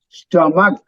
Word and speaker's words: stomach: Stomach. Okay. Again, pay attention to the syllable stress. Sto is pronounced softly. Ma is stress, and stomach, K is again soft.